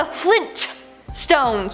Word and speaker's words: Flintstones: Now, the Flintstones are pronounced as so you would think it would be spelt as so. No, apparently it's the Flintstones with the hard T.